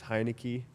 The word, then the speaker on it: Heinecke: It's Heinecke. Heinecke. Yeah, Heinecke. Yeah. And the tags are just Owen Heinecke. So I keep it pretty simple. Yeah. Nice. Because he's the original. The OG. OG Owen Heinecke.